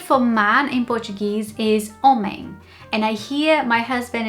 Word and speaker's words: homem: But it would actually sound more like an n or an n g. So, it would be homem, homem, not homem.